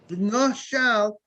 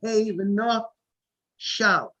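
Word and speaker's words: ונשל: Let's say the word v'nashal. V'nashal has the sound of vav, nun. It sounds like after the nun, v'nashal sounds like an aleph or a hey, v'nashal.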